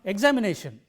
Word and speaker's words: examination: So, we pronounce it like this: examination. It is not examination, it is not examination, but it is examination, is a botheration, and so on.